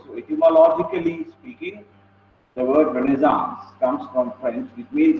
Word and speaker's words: Renaissance: Okay, so Renaissance, the pronunciation. Okay, Renaissance. Okay, call whatever you want, but the pronunciation which approximates to closest to the correct pronunciation is Renaissance.